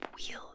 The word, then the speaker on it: weel: So it's called sleep well, but it's sleep wheel. W-E-E-L is like how you like Scottish people might pronounce it.